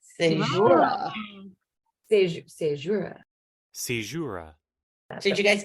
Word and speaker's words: caesura: And so Caesura's work in a couple ways.